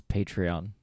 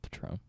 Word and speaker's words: Patreon: Guys, So, like, it's Patreon, not Shots of Patron. It's spelled the same.